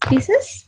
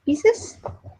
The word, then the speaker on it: Pisces: What is horoscope, and my sync is Pisces. Pisces.